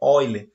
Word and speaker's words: Euler: que um matemático chamado Euler, apesar de se escrever aí, como vocês podem ver no slide, Euler, a pronúncia correta é Euler, certo?